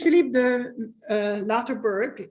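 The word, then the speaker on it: Philippe de Loutherbourg: So we'll start with Philippe de Larterberg, as the English would pronounce it.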